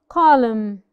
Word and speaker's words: column: together a couple of examples column column we do not say column column no the N is silent when it appears after the um column that's it